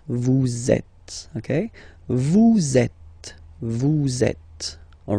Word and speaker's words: vous êtes: So in that case, vous is ending with S, and then you tend to make a little link between them. So vous êtes, z, it goes like that. Vous êtes, okay?